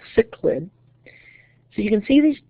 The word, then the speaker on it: cichlid: So the pronunciation of the fish is called cichlid.